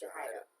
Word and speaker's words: Jahida: Grand Rising, Shalonda, Cupcake, and in Spanish, Y's or J's, right? Jahida. That's how you say it, Jahida.